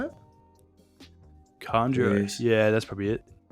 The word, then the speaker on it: Kanjuro: It's like Shojuro or something. Oh fuck! Sanjuro. Conjuro? Is that how you say it? Kanjuro.